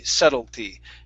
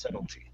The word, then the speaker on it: subtlety: It would be subtlety. Don't know why. It's just one of those words we do not do that with. Okay, so it's subtlety.